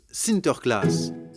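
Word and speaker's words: Sinterklaas: aux enfants aux pays bas saint nicolas se prononcent sinter klaas et lorsque les néerlandais traverse l'atlantique au xviie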